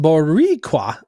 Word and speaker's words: Boricua: Boricua, pronounced Boricua. I did that right. Roll the R a teensy bit.